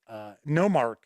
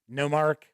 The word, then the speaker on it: Nomarch: actually ruled by a Nomarch. And it's kind of funny. Yes, it is spelled just like monarch, but you switch the M and the N around.